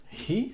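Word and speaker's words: ひ: wow it's so easy you write you read it in japanese way he and it's so wonderful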